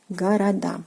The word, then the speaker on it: города: Города, city, cities. And pay attention to the stress position, город, города. So the stress falls on the last syllable, which is the ending of a plural form, which is "a".